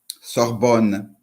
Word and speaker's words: Sorbonne: And is this pronounced Sorbonne? Sorbonne.